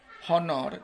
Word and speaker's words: honor: ucapan Latinnya gitu dan Kebanyakan yang huruf ha itu di beberapa bahasa itu tidak dibaca contohnya aja bahasa Inggris ke kita bilang honor gitu bacanya under kehormatan file